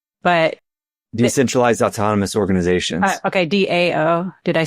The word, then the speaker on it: DAO: Okay, DAO. Did I say it wrong? DAO.